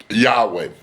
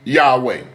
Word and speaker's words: Yahweh: all almost 99% of them embrace the name Yahweh. Even the Jewish historian, Josephus, ladies and gentlemen, the Jewish historian, Josephus pronounced his name Yahweh.